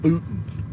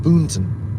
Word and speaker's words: Boonton: But it's spelled Boonton. And but we call it Boonton. It's just too much trouble to make that first N sound like an N. Boonton.